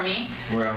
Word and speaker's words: Miu: how do you spell how do you pronounce that me okay and what's your